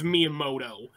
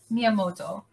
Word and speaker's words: Miyamoto: how I don't know how to if you pronounce it but his last name is Miyamoto uh it's Miyamoto yeah yeah Shigeru um yeah yeah like he